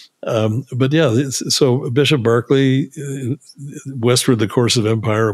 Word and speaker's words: Berkeley: he said but yeah Barkley is his pronunciation we Americanized it well yeah yeah you're